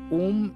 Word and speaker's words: ওং: প্রণব হয়, তো সেখানে আমি ওম যে শব্দটা উচ্চারণ করছি এটা ম উচ্চারণ করবেন যারা ব্রাহ্মণ, আর যারা ব্রাহ্মণ নন তারা গ উচ্চারণ করবেন ওং।